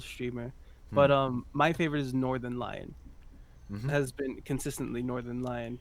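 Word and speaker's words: Northernlion: So his name is Northern Lion. Oh my god! I'd never heard his name pronounced before. I've been calling him Northernilian.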